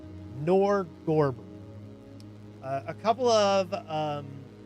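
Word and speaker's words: Norgorber: Uh uh nor how is it pronounced? It's not norborger. I keep trying to say Norborg, but it's not. It is Nerdberger. Nerdber. It is Nor Gorber. Nor Gorber.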